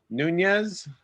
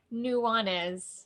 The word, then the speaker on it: Nuanez: We have, is it J.M.M. Nunez? Nuanez. Nuanez. Oh It's boy. okay. It's an extra vowel in there.